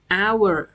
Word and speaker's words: hours: คะ คำ นี้ เป็น ขึ้น ต้น ด้วย ตัว h แต่ ไม่ ออก เสียง ตัว h นะ คะ ออก เสียง เป็น hours นะ คะ 3 ชมง